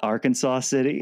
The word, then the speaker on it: Arkansas City: Emporia Gazette instead but I interviewed in AR Kansas City what oh my God everyone says Arkansas city and actually after a